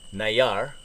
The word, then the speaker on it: Nayar: We are right outside the town called Mesa del Nayar.